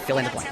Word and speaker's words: Phil and Blanc: Do you know how to pronounce that? Fill in the blank.